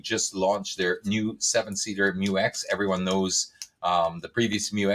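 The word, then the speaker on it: Mu-X: It's standard fare on the Isuzu Mu X.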